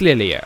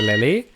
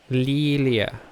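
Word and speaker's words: リーリエ: the light um the first Lee is longer than a second and e e is pronounced yeah Lilia Lilia oh God that's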